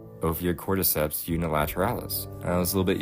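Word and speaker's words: Ophiocordyceps unilateralis: by I'm not going to be able to pronounce this um opio Corps unilateralis Opia Corps unilateralis that was a little bit easier than I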